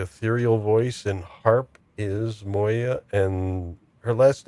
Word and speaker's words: Moya: in their own right except for Moya, I guess, is how you pronounce it. Even though I tried it before, I always called it Muari, but it's like no, it's Moya.